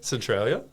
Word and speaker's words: Centralia: Did I pronounce it correctly? Centralia?